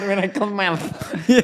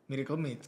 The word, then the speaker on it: Miracle Mates: Miracle mat. Mats bukan mat. Oh mat i mates. Oh mates. M. Iya mat. Dibacanya miracle mates.